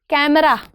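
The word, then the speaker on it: camera: Looking at right now कैमरा कैमरा नॉट कैमरा guys it's नॉट कैमरा इट्स कैमरा कैम C there is this so in Hindi we डू all these uh word letters right we डू all these letters we से अ ऐ ओ औ so difference है ना ए अलग होता है। ए अलग होता है। कैमरा कैमरा नहीं होता है। इट्स कैमरा ए का जेंटल साउंड।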